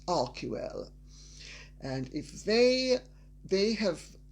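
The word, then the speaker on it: Archewell: using our key well it's not pronounced Archie well by the way and if Harry and Megan don't know how to pronounce something that has Greek roots they can mispronounce it and pronouncing it correctly it's our key well and if they they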